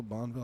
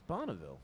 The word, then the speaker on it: Bonneville: bonneville yeah bonneville bonneville bonville i don't know how to pronounce it it's bonneville yeah camp bonneville which